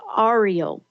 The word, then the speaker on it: Ariel: And it could be pronounced Ariel. I say Ariel, but, it's just the way, we pronounce things.